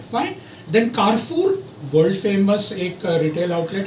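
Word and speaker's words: Carrefour: Then कारफूर, world famous एक retail outlet है जैसे हमारा वॉलमार्ट है.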